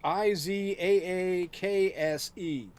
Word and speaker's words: Izaakse: It's Izaakse.